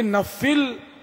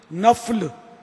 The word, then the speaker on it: نفل: تعالی علیہ وآلہ وسلم۔ یہ نفل تلفظ نہیں ہے، نفل فا پر زبر ہے، فرض نہیں، فرض، منٹ